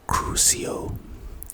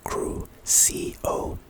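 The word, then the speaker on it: Crucio: Pronunciation cruio. Cruo.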